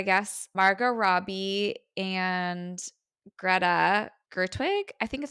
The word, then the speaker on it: Gerwig: So I guess Margot Robbie and Greta Gerwig, I think is how you say her last name.